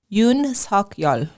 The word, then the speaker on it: Yoon Suk-yeol: Yoon Suk-yeol.